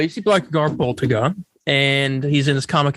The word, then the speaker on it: Blackagar Boltagon: Oh, Blackagar Boltagon. That's his name. Mm-hmm. All right. You see Blackagar Boltagon, and he's in his comic accurate outfit.